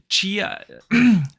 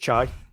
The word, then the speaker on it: chai: Chia, how do you pronounce it in English? Chia? It's just chai.